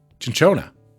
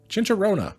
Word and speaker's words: cinchona: Cinchona. Cincharona. No, there's no R in there.